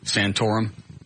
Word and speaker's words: Santorum: Is it uh Santorum? Yes. You know who I'm talking about? Yeah. All right. here's a section of the Associated Press interview taped April 7th with Senator Rick Santorum uh regarding this whole stuff.